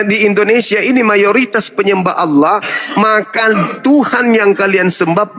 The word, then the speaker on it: Allah: Maka saya membacanya sesuai dengan kaidah Allah itu Allah tuh, Bang. Bahasa Arab, Bang. Makanya Allah.